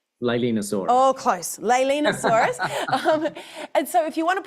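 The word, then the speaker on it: Leaellynasaura: about your um I'm going to get the name wrong. Leosaurus. Did I get that right? Leilenosaurus. Oh, close. Leilenosaurus.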